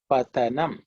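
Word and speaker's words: पतनम्: the next word is the second letter is the dental okay patha nam so you can see how how the pronunciation is different in english you will write t in both cases but the pronunciation is much different and the meaning is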